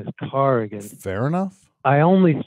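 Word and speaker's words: Corrigan: I know a lot of people think it's pronounced Coran actually caran caran cargan I I I I've been glad it slide a lot but I think people should know okay that the real pronunciation is carrian fair enough I only say that Tom out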